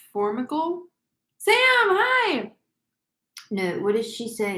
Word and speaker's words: Formica: Is that how it's pronounced? Yes, Formica.